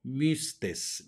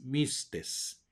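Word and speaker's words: μύστης: Mística viene del griego mistes mistes se pronuncia un poco extraño como la u francesa mixtes misterioso secreto especialmente se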